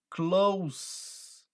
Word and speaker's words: close: você troca o sentido se você fala Close com z significa fechar por isso que não existe Close Friends você não tá fechando seu amigo né existe Close Friends com som de s é proximidade Close friend E aí